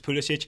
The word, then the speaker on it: Pulisic: In Klinsmann's defense, that is the correct way to pronounce it. Yeah. And especially if you're in Germany, and which is nearish to Croatia, that is the correct way to pronounce Pulisic. It's that Pulisic himself has chosen the Pennsylvania pronunciation.